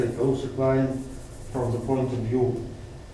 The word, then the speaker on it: Kaluza-Klein: First, like above, we have Kaluza line.